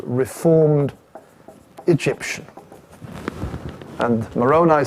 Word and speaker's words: Moroni: something and I heard the Americans they said Moroni so I realized that's how you pronounce it okay three times during the night